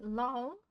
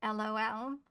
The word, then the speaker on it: loll: And our next word is lol, not lol, though some people do pronounce it as lol. I did once upon a time. In a period of my life, I articulated lol as lol.